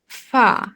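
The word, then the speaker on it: ف: থেকে উচ্চারণ করতে হবে ফা নিচের ঠোঁটের পেট সামনের উপরে দুই দাঁতের আগার সঙ্গে লাগিয়ে উচ্চারিত হয় ফা ফা ফা হুম ফা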